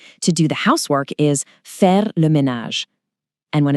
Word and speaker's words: faire le ménage: To do the housework is faire le ménage.